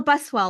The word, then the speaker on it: Buswell: go my name's buswell like what little kids ride to school and where you get water just in case anybody